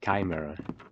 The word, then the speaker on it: Chimera: Kai like Kai Kai mirror. Kai mirror.